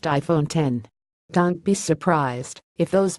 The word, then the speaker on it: iPhone X: nor the A+ it's the iPhone X pronounced iPhone 10 don't be surprised if